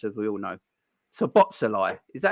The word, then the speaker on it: Szoboszlai: I'm going with the silent S, and and there's another Z in it. So Szoboszlai or whatever.